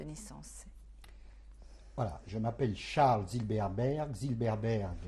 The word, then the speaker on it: Zilberberg: et date de naissance voilà je m'appelle Charles Zilberberg Zilberberg s'écrit Z i l B r B G